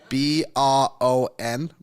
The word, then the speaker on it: Bron: How do you spell that? B-R-O-N, Bron.